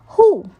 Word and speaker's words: Hu: associated with the kidneys who pronounced like who which is associated with